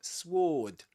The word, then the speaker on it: sword: Just like in sword, as we discussed before, you don't say swore. sword but sword.